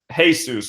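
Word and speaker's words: Jesús: she sees the door next to hers is hey Seuss right but she doesn't know that the Spanish pronounced s faces loves like Jesus with these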